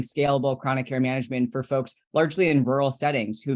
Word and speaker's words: Folx: this one is a company called folks Health it's spelled folx that's focused on primary